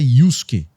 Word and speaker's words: Yusuke: Mas esse Su, ele significa o S isolado. Então a pronúncia certa é Yusuke.